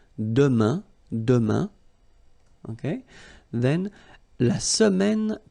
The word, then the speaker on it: demain: For the future now, we've got demain, and it means tomorrow. Demain, remember, when you combine this A-I-N, you get the sound un, demain, demain, okay, then la semaine prochaine, so it's next week, okay?